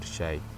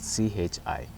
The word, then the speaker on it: chi: It just depends with your pronunciation, whether I say chi or shai. It's just chi.